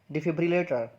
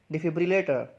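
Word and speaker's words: defibrillator: तो इस वर्ड की प्रोनाउंसिएशन है डिफिब्रिलेटर। इसको कैसे बोलेंगे, डिफिब्रिलेटर।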